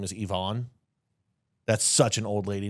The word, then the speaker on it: Yvonne: It's Yvonne, unfortunately. It's Yvonne. She's And guess saying what? her name wrong.